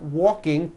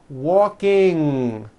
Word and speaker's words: walking: There is not a K sound. The word is not walking, k. It's walking with that ng ending, okay?